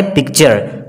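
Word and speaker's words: picture: दोस्तों, पिक्चर में भी आप देख सकते हैं कि टी के बाद क्या आ रहा है, यू आर ई, तो वहां पे इसका जो प्रोनाउंस साउंड होगा च का होगा, जैसे पिक्चर।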